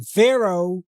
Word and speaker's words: Pharaoh: just like the name Pharaoh we pronounce it o at the end but it's spelled with a he okay and the place